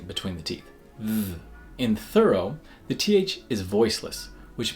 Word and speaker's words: thorough: similar to though is thorough but there are two important differences here most obviously you have this o r here and that comes through as it's not pronounced or but is reduced thorough but the other important